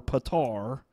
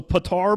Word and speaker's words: Petar: There was a man, I honestly don't know his last name, but his first name, it's either Peter or Petar, because it's spelled P-E-T-A-R. I think it may be Petar.